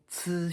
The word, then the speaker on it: ci: Example, ci xin.